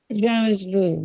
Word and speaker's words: jamais vu: Jamais vu. Did I say it right? Jamais vu, yeah.